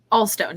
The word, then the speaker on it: Ahlstone: forgot to ask you is that how you pronounced your last name allstone allstone yeah yeah it's kind of weird that H